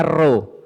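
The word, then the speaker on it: ρ: Bacanya ro.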